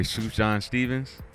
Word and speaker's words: Sufjan Stevens: I think his name pronounced the correct way, Sufjan Stevens.